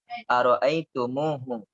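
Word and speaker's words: أرأيتموه: Tum ara'aitum hu, ini ditambahkan wawu. Jadi bacanya ara'aitumuhu.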